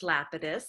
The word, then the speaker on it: Lapidus: And my last name is actually pronounced Lapidus. Lapidus, I'm so sorry. We talked and I totally neglected to confirm that. Forgive me, folks. It's Lapidus. Yeah, and there are Lapiduses out there that pronounce it Lapidus, but yeah, my people say Lapidus.